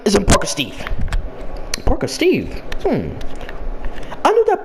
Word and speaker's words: Parka Steve: Yeah, I'm pronounced as Parker Steve because that's just what my name is and stuff.